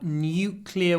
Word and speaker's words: nuclear: It's only NU, but it's 4 sounds. It's NU is N, Y, W, nuclear, nuclear. Nuclear weapons. Make it long. Nuclear weapons. Не просто nuclear. Nuclear. Look at my lips.